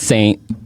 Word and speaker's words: St: So you don't write it out as Saint. It's just ST. ST. So pronounce Saint, spell ST.